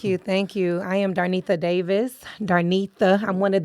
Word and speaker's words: Darnetha: Darnetha. That's why. Okay. I'm one of the Nethas. So that's what I was like saying, that word. Aretha Franklin.